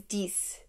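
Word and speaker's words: dix: what's up though klodin if 10 is dese just I think of dis one I when I hear 10 but instead of like the I being a I just turned it to an e so it becomes DS or you could think of like DS you know I'm not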